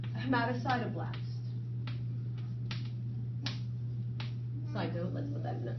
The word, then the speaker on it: hematocytoblast: How do you pronounce that? So that's a hematocytoblast.